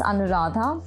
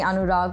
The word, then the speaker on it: Anuradha: can yes sure so my name is anadha you pronounced that correctly very people get it right uh a lot of people try to call me anurag which is not my name it's also a man's name in India um it's also my